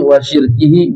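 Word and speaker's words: وَشِرْكِهِ: syirkih wa syarri syaitani wa syirkihi, bisa dibaca wa syarakih, wa syirkihi atau wa syarakih. Yang lebih bagus adalah sekali membacanya dengan wa syirkihi, sekali membacanya dengan wa syarakih.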